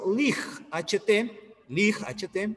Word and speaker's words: light: La palabra luz se escribe lig, H-T, ¿ya? Y suena light, como si hubiera una A.